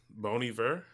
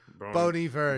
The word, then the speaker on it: Bon Iver: My second song, I always pronounce the artist incorrectly. Yeah. But this is one of the few J cool. No. Bon Iver. Bon Iver, yeah. Bon Iver.